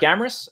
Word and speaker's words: Amoris: point so i'm amoris uh amorous rhymes with glamorous so i like to get that out of the way because it is a